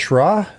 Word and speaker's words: Shra: It's pronounced Shra. That's the way I've always pronounced it.